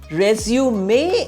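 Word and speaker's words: résumé: start again that means resume do it again resume may is the noun form when you write on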